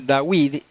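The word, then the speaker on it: דויד: y yod d eh le añadieron una yod Ah para que esté claro verdad que dice dawid y no y que no dice dod porque dod es tío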